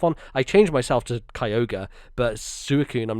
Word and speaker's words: Kyogre: kyogre was mine where instead of kyogre whereas like the re is just like a r sound i was like kyogra um like he was gra uh at the end there so that's probably my